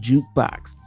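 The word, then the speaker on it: JKBX: should I say this the letters are j k b x but it's pronounced jukebox so um you know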